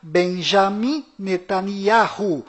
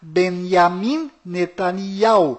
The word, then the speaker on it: Benjamin Netanyahu: bom volta no assunto fora de Israel o nome deste primeiro-ministro é pronunciado Benjamin metaniarro mas dentro de Israel o nome dele é pronunciado benyamin netanyahu ao confira fora dentro